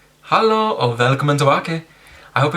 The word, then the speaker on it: hallo: Of course, you can also say hello, which is pronounced hallo. Hallo. Hallo.